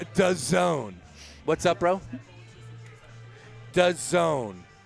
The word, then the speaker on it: DAZN: And Dazun, is that how you pronounce it again?